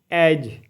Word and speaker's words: edge: जैसे EDGE एज मतलब किनारा। देखिए एड्ज नहीं पढ़ना है, एज पढ़ना है, डी साइलेंट।